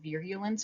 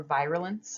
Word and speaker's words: virulence: can cause disease is called virulence or virulence i've heard it pronounced either way so this is